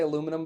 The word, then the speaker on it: aluminum: Like how the British, we say aluminum, but the British say aluminium.